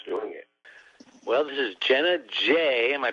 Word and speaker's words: Jenna J: Well, this is Jenna J. Am I pronouncing it right?